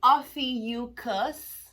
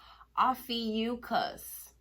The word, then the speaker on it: Ophiuchus: OPHIUCHUS. Good morning. This is your channel messages for the 10th of June. Apparently, I was pronouncing the word wrong. OPHIUCHUS. OPHIUCHUS.